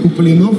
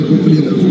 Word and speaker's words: Куплинов: А товарищам организаторам напомню, что фамилия правильно читается как Куплинов, а не Куплинов. Но ошиблись, да, к сожалению.